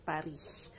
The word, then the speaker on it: Paris: Yan, sa French po, laging hindi pinopronounce yung S, Paris.